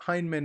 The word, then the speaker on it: Heinemann: I did a video probably 4 months ago talking about the Heinemann technique, and I believe that Heinemann is the correct pronunciation of his name.